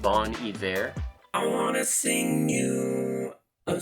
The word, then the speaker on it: Bon Iver: It's actually pronounced Bon Iver.